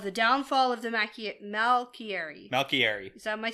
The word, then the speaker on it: Malkieri: Malkieri.